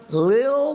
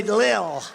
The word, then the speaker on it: Lil: one of the few rapper L pump little pump L little I said how do you pronounce that they say Lil and a great picture